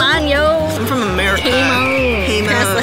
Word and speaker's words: jamón: Hamon. Hamon. Can I have some of that jamming? Oh gosh. If you say it correctly.